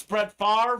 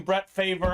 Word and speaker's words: Brett Favre: bret favor helmets uh you know it's pronounced spread far but they call them bret favor on draftknight that is what